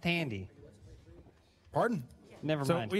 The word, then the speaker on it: Thandie: I believe it's pronounced Tandy.